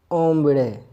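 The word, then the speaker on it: hombre: और ओम्बड़े। एच खामोश होता है, इसलिए हम इसको प्रोनाउंस नहीं कर रहे।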